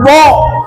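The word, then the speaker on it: ض: Ini yang paling susah. Tidak ada yang fasih menyebutkan huruf dho terkecuali Rasul. Maka dari mana ini gambaran lidah. Ini geraham di sebelah sini. Ini lidah nih, ya. Jadi dibelokkan ujung lidah ini bukan ke sebelah sini karena susah, di sini.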